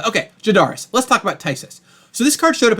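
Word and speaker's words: phthisis: it up here um it is pronounced tysis right so it's like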